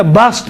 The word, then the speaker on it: بسط: بھی پڑھ سکتے ہیں، انہی میں سے بسط ہے، بسط میں سین اور صاد دونوں کا تلفظ صحیح ہے۔ اما الہم میں، بلکہ